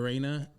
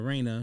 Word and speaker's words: Reina: That's why I kind of wanted to name my daughter Reina. It was like I wanted to have her name the same pronunciations in English and Spanish. Mm-hmm. So I named her Reina because if you're Reina or Reina, right?